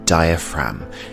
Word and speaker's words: diaphragm: And below the lungs we have the diaphragm, and the G here is silent.